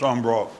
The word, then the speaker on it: Embarrass: Just outside of Oakland is the Ambra River. It's spelled Embarrass, but it's pronounced Ambra.